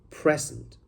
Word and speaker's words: present: The stress is in the first syllable, but present is to give a speech with, for example, PowerPoint slides. So that is called present. Present is a verb. So P-R-E-S-E-N-T as a verb, that is present.